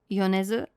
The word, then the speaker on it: Yonezu: So we got a new opening, Peace Sign by, I think this is pronounced Kenshi Yonezu? Or Yonezu? Did I get that right? Yonezu.